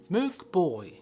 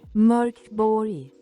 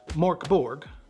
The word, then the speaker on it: Mörk Borg: But before we get started, if you really want to impress everyone at the table and pronounce the game correctly, you'll say Mörk Borg. Mörk Borg. Not Mörk Borg, but I digress.